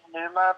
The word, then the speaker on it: Pneuma: It's from their newest album, Dear Inoculum, and I highly suggest everybody listen to Numa by Tool. It's spelled Pneuma, and it means, what is, I think Pneuma, it means the soul, spirit, or creative force of a person.